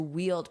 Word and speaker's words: wield: And notice the pronunciation of this word. It's just like the word wheel, like the wheel on a bus goes round and round. And then you just add the D, of course, because the